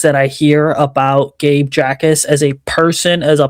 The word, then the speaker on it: Jacas: Yeah, so it's Jacas, actually. Gabe Jacas. The J is silent, but My bad.